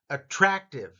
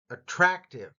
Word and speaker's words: attractive: Attractive, attractive. Notice the rat part gets the emphasis.